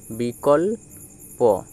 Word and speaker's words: বিকল্প: Next দেখো, বয়হস্যইটা আলাদাভাবে উচ্চারিত হলো বি, আর কয়ের সাথে ল, তাহলে বি কল, আর প, এই পয়ের পরে আর কোনো বর্ণ নেই, তাই পটি কী হবে, স্বাধীনভাবে এক্ষেত্রে উচ্চারিত হবে, কল। এই পটি স্বাধীনভাবে উচ্চারিত হলো, তাহলে এর উচ্চারণটা কী হলো, বয়হস্য এ বি কল কল, বিকল প, বিকল্প।